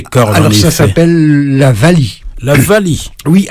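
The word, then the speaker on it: valiha: Alors ça s'appelle la vali. La vali. Oui, alors ça s'écrit V-A-L-I-H-A. Et on prononce Vali, pourquoi?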